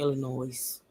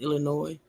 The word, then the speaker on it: Illinois: Stop saying Illinois. Stop it. I thought it was a S on the end. No, it is a S on the end, but it's pronounced Illinois.